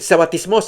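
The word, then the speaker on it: σαββατισμός: Dice, "Sabatismos es la pronunciación, sabatismo, figuradamente reposo del cristianismo como un típico del cielo."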